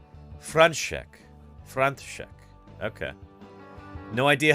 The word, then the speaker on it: František: And Czech Morticia says the S in František is pronounced as an SH. František.